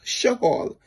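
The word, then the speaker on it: שאול: Saul, in Hebrew, his name is pronounced Shaul, which means asked for.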